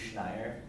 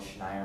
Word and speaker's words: Schneier: Yes, For those of you who are interested in security studies, I recommend a website by Bruce Schneier called Schneier on Security. It's spelled SCHNEIER.